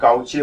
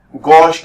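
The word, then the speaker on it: gauche: तो पहले हम इसको गॉच पढ़ते थे, फिर गाउचे पढ़ते थे, अब जो है थोड़ा और स्टाइलिश हो गया गॉस कन्फर्मेशन। ये CHE को जो है ना स प्रोनाउंस करते हैं, हिंदी में लिखा है, जो बच्चे हिंदी नहीं पढ़ सकते हैं वो सुन ले, श। गॉश कन्फर्मेशन इसे कहते हैं ना, गॉश कन्फर्मेशन, एंटी कन्फर्मेशन।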